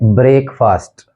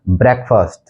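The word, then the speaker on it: breakfast: सातवां जो वर्ड है वो है जिसको हम गलत बोलते हैं वो है ब्रेकफास्ट, ब्रेकफास्ट बोलते हैं इसको हम, लेकिन जिसका एक्चुअल प्रोनाउंसिएशन है वो है ब्रेकफास्ट, ब्रेकफास्ट, ब्रेकफास्ट।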